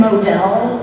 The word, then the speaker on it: Modell: His name is Ben Modell, and his last name is spelled like model, M-O-D-E-L.